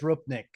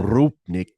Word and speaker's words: Rupnik: a group Nick or rupnik I'm not certain how do you pronounce it Chris do you know uh yeah I believe it's rupnik uh rupnik yeah he's a uh he's Slovenian yes from Slovenia and